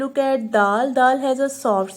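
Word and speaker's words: د: First alphabet is dal. So you may also pronounce dal between the two tips of your tongue.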